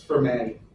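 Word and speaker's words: Fermat: It's for May. The T is silent.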